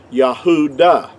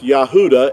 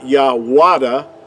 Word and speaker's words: Yahudah: is totally inaccurate because there's no J sound in ancient Hebrew but the word uh Judah in our English word would be uh would be accurately would have been pronounced Yahoo da now most people won't